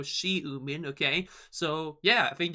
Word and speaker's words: Xiumin: his name correctly so we pronounce the X as an s in this case basically you know she mean okay so yeah I